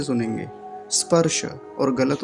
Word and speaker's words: स्पर्श: आगे क्या है स्पर्श स्पर्श में एक बात ध्यान रखेंगे पहले तो यह जो शुरुआत होती है इस शब्द की वो होती है दंती सकार से और वो भी आधा है कुछ लोग इसको बोलते हैं स्पर्श ऐसे करके स्पर्श ई नहीं लगाएंगे शुरू में सीधा सधा दंत सकार से ही आरंभ करेंगे स्पर्श ध्यान से